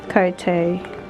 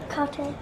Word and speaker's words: Cartier: Pati eto nila mayroong logo ng Cartier. How you say it? Cartier. Cartier.